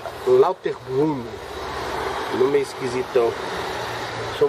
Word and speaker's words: Lauterbrunnen: aí é meio alemão é se escreve lutun mas esse fala lauter Brun não meio esquisitão deixa